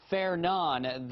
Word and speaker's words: Fernand: us we also have tropical storm Fair naan that that is the pronunciation according to the National Hurricane Center kind of looks like